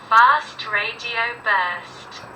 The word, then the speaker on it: Fast Radio Burst: Fast Radio Burst. Así se pronuncia correctamente.